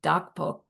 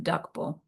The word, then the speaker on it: Drakpo: When it's spelled DR, but when we hear it said, it sounds like Dakpo. You can't really hear the word, the R. Dumpa Dakpo.